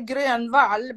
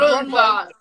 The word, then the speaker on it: Gronwall: Well, it's in Swedish we say Grönwall, but it's Gronwall. That's fine. I'm cool with that.